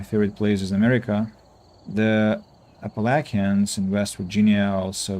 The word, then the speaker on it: Appalachian: Google says Appalachian. Ah, it's British pronunciation. And American Appalachin. Appalachian. See this is American. Appalachin. And this is And this is British. Appalachian. Appalachian. like like appellation like court of appeal court of appellation.